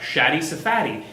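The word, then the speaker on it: Shaddy Safadi: This is a great image by Shadi Safadi? Thank you, I was going to say it right. It's a great little breakdown. I do recommend, if you want to learn more fundamentals, look up Shadi Safadi.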